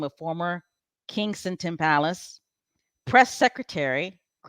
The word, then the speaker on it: Kensington: I always say Kingston. That's not how you say it, Special K Thoughts, right? It's Kensington Palace.